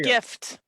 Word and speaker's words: GIF: the thing for you peanut butter no fire gift hard G gift back Jack that Jack graphics